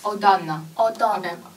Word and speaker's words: autumn: autumn 注意这个 m 不发音，OK， autumn 而不是 autumn